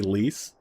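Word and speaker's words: Lyse: You've been saying lice for so long, for the longest time, until you hear people say lease. I guess it's how other characters pronounce it, right? I think that's the thing. Because, yeah, I mean, like, if I'm reading it normally, it sounds like lice.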